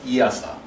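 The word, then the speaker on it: EASA: a Aviation safety agency it is it is pronounced as iasa iasa European Aviation safety agency and in us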